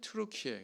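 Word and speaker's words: 튀르키예: 갈라디아 지방의 현재 트루키의 전에는 터키라고 했습니다 요즘엔 트루키에 그렇게 얘기합니다 원어 발음을 존중해주는 의미죠 이 트루키에 속한 영토인데요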